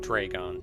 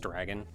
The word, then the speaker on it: Draygon: was a kid who he said that Draygon was just dragon. It was just pronounced dragon. And I'm like, there's a Y in it. That's not how you spell dragon.